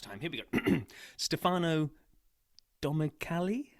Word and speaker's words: Domenicali: here we go Stefano domali no you were good domenicali is the way okay that guy he